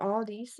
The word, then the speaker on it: Aldi: I have to say I got those from Aldi or all these as Americans say for some reason and it's really good.